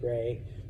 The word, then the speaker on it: Re: Some people pronounce it Ra, some people pronounce it Re. It depends on which teacher you have. I go with Re, okay?